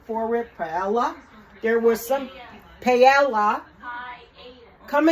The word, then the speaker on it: paella: some paella my granddaughter gave me the correct pronunciation for it paella there were some paella come and say it for me please quickly pie IA okay so this is it you guys so